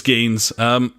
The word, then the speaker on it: Geens: If you're Belgium, it's Greens without the r. It's Geens.